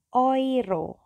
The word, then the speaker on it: Euro: Yang pertama adalah euro.